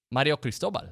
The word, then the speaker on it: Mario Cristobal: love how do you say that name again mario cristobal okay thank you mario cristobal but is there